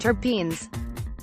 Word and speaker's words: terpenes: class of aromatic organic hydrocarbons known as terpenes pronounced terpenes you may have also heard people talk about